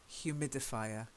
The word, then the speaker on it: humidifier: We actually aspirate the H. Humidifier.